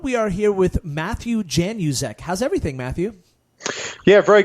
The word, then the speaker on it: Januszek: properly you mean no Jan use ech yeah that's it the Zed throws people I guess you know